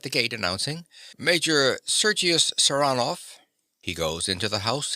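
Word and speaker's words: Saranoff: him around this way he pronounces the name with a stress on the second syllable saranov Nikola yes sir he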